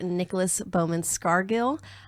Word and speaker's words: Nicholas Bowman-Scargill: Nicolas Beaumont's cargill of fears watches Nick how are you I'm